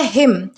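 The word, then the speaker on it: hymn: दोस्तों ये जो वर्ड है इसमें जो लास्ट वाला एन है ये बिल्कुल साइलेंट है, इसे जो है वो हिम नहीं करना है प्रोनाउंस, बल्कि हिम इस तरीके से आप जो है वो प्रोनाउंस करोगे, ठीक है। यानी कि इसे हिम बोला जाता है।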